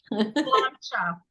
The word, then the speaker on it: Sláinte: Sláinte. Oh, sláinte. All right, I'm going to go pour some to celebrate. Gaelic is not pronounced in any way the way it looks.